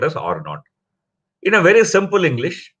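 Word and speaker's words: R naught: is generally pronounced as R not okay that zero is pronounced as not so it's generally called as R not in a very simple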